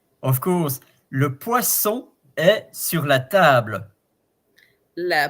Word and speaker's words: poisson: I love that because in fact it's poisson. When it's double S, it's son, and when it one S is like as a Z, like poison. So Now, poisson is a fish, and before I poison is run a real quick, poison.